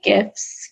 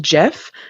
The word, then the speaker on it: GIF: say it wrong allegedly the creator of that particular image file says that it should be pronounced jiff but i will tell